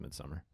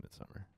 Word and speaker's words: Midsommar: It's just pronounced Midsummer. Midsommar. It's Midsummer.